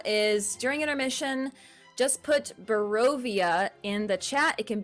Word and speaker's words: Barovia: It's Barovia, not Brovia.